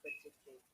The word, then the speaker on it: predicate: Okay, but what I'm trying to emphasize, when you're pronouncing the words predicate, upper to fall, yeah, it's noun. Predicate. Remember, all the nouns have a higher intonation to fall intonation, or upper intonation to lower intonation.